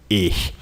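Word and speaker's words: ich: normal we you get that with time touch pronounce it with me if if if if this word here means i i ish and then teacher how do i conjugate the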